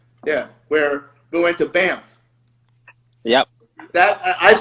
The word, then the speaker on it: Banff: Because it's like Step Brothers, where the dude goes bam. Like, why are you saying that? Bam. It could be spelled Banth and still be pronounced Banff.